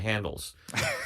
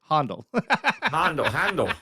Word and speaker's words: Handel: We've talked a little bit about how different people have different handles. So Um, we were just talking about classical music, and I immediately went to the composer, Handel.